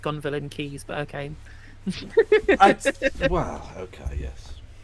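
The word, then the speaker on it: Gonville and Caius: am than the other I know it's pronounced gon villain keys but okay well okay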